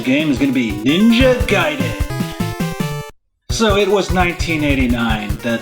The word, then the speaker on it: Ninja Gaiden: played this game called Ninja Gayen?" Yes, that's how we pronounced it back in the day, Ninja Gayen. So, one of my first memories of Ninja Gaiden was going to the